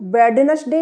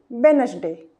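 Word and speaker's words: Wednesday: इसे हम वेडनेसडे नहीं पढ़ेंगे, गलत हो जाएगा। डी के बाद ये एन आया हुआ है, एन, एन, ये देखिए। तो यहाँ पर भी हम डी को काट देंगे, तो क्या पढ़ेंगे हम इसे? वेडनेसडे। क्या हो जाएगा ये? वेडनेसडे।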